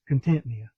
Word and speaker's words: Contentnea: Um there are several different pronunciations, but I'm going to use Contentea. Because that's what the creek's named.